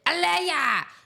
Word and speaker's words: Alea: It's not like Alea the Rapper, because a lot of people say Alea. I'm like, no. It might be spelled Alaya or Alea, but I pronounce it Alea, okay?